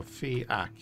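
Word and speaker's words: Fiach: you pronounce his name uh fiak so fak jam it together soften it up it is the Irish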